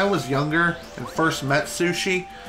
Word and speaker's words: Sushi: Funny enough, when I was younger and first met Sushi, I mispronounced her name as, like, Sunshine.